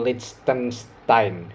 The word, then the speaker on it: Liechtenstein: Jadi Portugal bermain lawan Liechtenstein, ya itu bacanya kayak gitu.